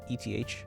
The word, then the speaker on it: eth: English alphabet it's a it's called f eth is how you say it it's like a curved D with a slash it's not in